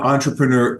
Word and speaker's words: entrepreneur: are an entrepreneur and Tom entrepreneur is the French pronunciation yes I didn't know